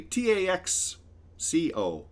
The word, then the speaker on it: Taxco: This is called Tasco Steps, which is actually Taxco Steps, because I think it's a place in Mexico, and I think the X is pronounced as an S.